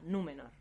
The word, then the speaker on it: Númenor: Entonces, por eso, por ejemplo, Númenor no se acentuaría en la segunda, porque la segunda sílaba es me, que no acaba en consonante, por lo tanto, se acentúa esdrújula, Númenor.